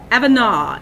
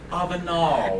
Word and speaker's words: Avenal: Avenal. You know, I used to work at Avenal State Prison. Say Avenal. And they would correct me. It's like Avenal.